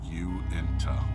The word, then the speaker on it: Uinta: better with DES or Uinta as it's supposed to be pronounced you into okay I don't think